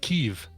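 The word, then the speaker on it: Kyiv: it was evie yeah now it's k-y-i-v that's cool oh and it's now pronounced keeve all right let's do it right then ukrainian orthodox church of keeve uh one of the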